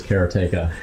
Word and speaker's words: Karateka: recently re-released Karateka, or he says Karateka. Yeah. The way he pronounces it. I've always said Karateka. Everyone said Karateka, and it is Karateka.